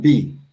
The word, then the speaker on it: Laamb: But and it's Laamb. You see the lamb who does Laamb, right? It's not pronounced lamb or Laamb. It's Laamb.